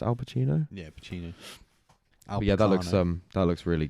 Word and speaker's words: Pacino: Is that pronounced Al Pacino? Yeah, Pacino.